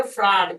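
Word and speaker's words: farad: इस coulomb volt को हम लोग बोलते हैं फ्रड। क्या बोलते हैं? फ्रड एफ आर ए डी। तो फ्रड बोलते हैं इसको।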